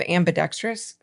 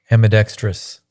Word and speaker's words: ambidextrous: I mean, I'm I'm kind of ambidextrous. How do you say that? Amidextrous.